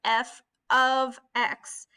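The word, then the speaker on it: f(x): Remember that this right here, this F parentheses X parentheses, you pronounce that as F of X.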